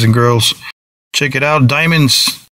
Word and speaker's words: Diemonds: girls check it out diamonds but it's spelled a bit different it's t IE M o NDS diamonds di e so look